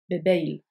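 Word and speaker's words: bep eil: Il y a une liaison entre bep et eil. Bebeil. Si l'on enchaîne bep, eil, bloa, bebeil bloa. Ou bebeil bloas, pour ceux qui prononcent le Z en finale, qui devra être durci en S.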